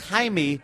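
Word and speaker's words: Jaime: not that it's it's Jamie in Spanish is pronounced Hae because of the J right you stupid who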